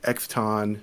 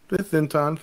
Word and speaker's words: Zeton: People try to pronounce it, and they're like, Exton, Zenton. Oh, it's Zeton, so congratulations for your pronunciation.